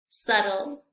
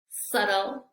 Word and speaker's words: subtle: Bien, tenemos la letra B y en estas palabras no se pronuncia. Vamos a repetir. Dead, dead, doubt, doubt, subtle, subtle, bomb, bomb, climb, climb.